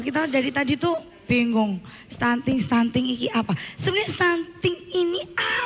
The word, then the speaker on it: stunting: Jadi stunting itu sudah diindonesiakan. Tulisannya stunting. Oh, Tulisannya stunting. stunting. Tapi bacanya adalah stunting.